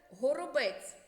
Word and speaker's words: горобець: це ворона Хто це Горобець Розгляньте схеми до цих малюнків вимовляємо слово по складах дятел перший склад наголошений сова другий склад наголошений ворона другий склад наголошений горобець третій склад наголошений познайомимося з терміном Діалог